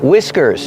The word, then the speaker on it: whiskers: Whiskers. The H is silent and we use the short I sound like this is whiw whiskers.